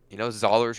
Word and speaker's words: Zollers: Oh, just Zollers rhyme with dollars, and Okay.